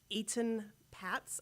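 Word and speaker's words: Etan Patz: was another child uh Eaton Pats I believe the correct pronunciation is he was also abducted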